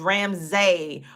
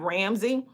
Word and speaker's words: Ramsay: The correct pronunciation of my last name is really not Ramsey. It's Ramsay.